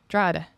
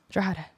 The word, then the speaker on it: Drogheda: The G is silent. Drogheda. Drogheda. Drogheda. Oh my God! No? You're making me wet. No, I'm getting that pussy juice though. Oh, you sound like the one from. Drogheda.